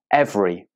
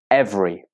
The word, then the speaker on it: every: is so interesting okay this is a short word but even though it's short it still has a silent syllable many students say this word with three syllables but it only has two syllables repeat after me every